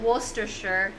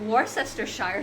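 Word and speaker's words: Worcestershire: it's werer sauce uh or is it werer it's one of those words that not everyone knows how to pronounce I had to look up on YouTube why you used to call it War sester Shire sauce but that's definitely wrong yeah sorry your photo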